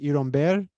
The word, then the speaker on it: Iron Beer: soda called Iron Beer, which in Cuba would be pronounced Iromber, and it's a very fruity, nothing organic or natural about it.